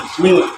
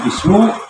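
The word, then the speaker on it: بِسْمِ: arahimi yang maha penyayang bacanya Bismi tidak bismu tidak Bisma Bismillahirrahmanirrahim Bismillahirahmanirrahim enak juga ya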